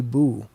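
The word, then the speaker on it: Bue: Amy Boo, it's B-U-E.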